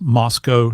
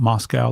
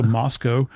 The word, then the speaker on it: Moscow: you have to pronounce Moscow, not Moscow. They take exception to that. So, you have to think Costco, so Moscow.